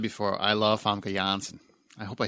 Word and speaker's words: Janssen: I know a lot of people say it's Janssen. It's not Jan. It's pronounced Janssen, but I don't think she cares.